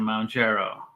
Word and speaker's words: Mounjaro: The blockbuster obesity drugs Ozempic, Wegovy, and Mounjaro.